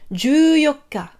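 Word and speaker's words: じゅうよっか: Exception 14, on utilise le 4. Vous vous souvenez que pour dire le 4 du mois, c'est yokka. Et bien ici, on rajoute juste ju pour 10, pour dire 10, 4, 14, le 14. Juyokka, juyokka.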